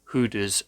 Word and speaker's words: Gouda: They've got Goudas, or Hooders as it's actually pronounced back in its native country.